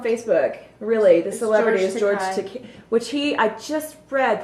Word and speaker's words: George Takei: It's actually George Takei, and what he put on there was, my name is pronounced George Takei, rhymes with gay, easy to remember, no?